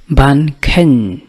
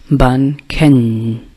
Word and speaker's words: ken: Ban ken, ban ken, with a nasal sound at the end. Ban ken.